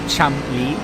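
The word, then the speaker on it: Cholmondeley: They're all in the Twitch chat telling us that you actually pronounce it Chumli, like that entire thing with syllables in the middle. You just forget it all. It's just Chumli.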